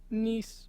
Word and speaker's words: Nice: right next to bordeaux nice or nice however you want to pronounce it nice is the official um